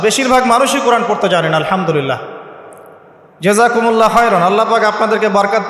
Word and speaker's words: আলহামদুলিল্লাহ: এইতো আপনি পড়ছেন আলহামদুলিল্লাহ। শব্দটা কি? আলহামদুলিল্লাহ। এই হা এর মাখরাজ কোথায়? হা এর মাখরাজ কোথায়? বলেন একজন কন্ঠনালীর মাঝখান থেকে এখান থেকে আপনি উচ্চারণ করছেন আলহামদুলিল্লাহি রাব্বিল আলামিন অর্থ